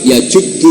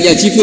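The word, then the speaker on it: يَجُبُّ: Terus Nabi ngendikan al-Islamu yajubbu ma qabla. Itu bacanya bukan yajibu tapi apa? Yajubbu ayaktau. Nah kalau pas ini kamu baca yajibu kan, al-Islamu ta Islam yajibu, pusing kamu.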